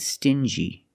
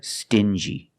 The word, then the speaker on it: stingy: Example, dingy and stingy. These two words have the regular n sound, n, plus the j, like juice. Together, stin-g. Together, stingy.